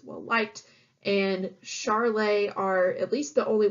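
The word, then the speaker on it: Charolais: as B white cows this is pronounced Charlet if you aren't familiar and with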